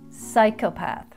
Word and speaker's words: psychopath: and he can change next is the silent p in such words as psychopath and psychological if you're like playing a psychopath or a you know deep psychological falls in fact whenever we have a p in front of a consonant we don't pronounce the p so repeat these words after me and remember the p is silent pneumonia psychopath receipt raspberry